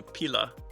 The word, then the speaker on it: pila: And in Italian, it's a pila.